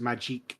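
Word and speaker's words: Magik: it's supposed to be pronounced magique when it's got a K.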